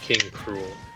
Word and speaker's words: King K. Rool: the japanese language version king k rool is actually pronounced as king cruel oh i did not